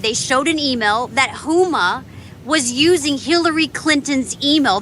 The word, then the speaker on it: Huma: dang name Uma hum no it's it's it's Huma vachi humon yeah vachi yeah yeah um Susan